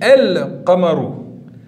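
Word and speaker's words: القمر: Donc je répète, on écrit le lemme, ici on voit bien qu'il est écrit. Et écoutez, on le prononce. On dit el-qamaru.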